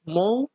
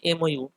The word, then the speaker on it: MOU: আচ্ছা, next news হচ্ছে, India France science মৌ on, actually মৌ না, এটার উচ্চারণ হয় MOU, মৌ on Gaganyaan mission.